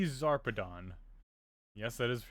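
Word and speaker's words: Zarpedon: ship trying to leave without us Colonel T zarpadon yes that is how you pronounce her name hey look one of those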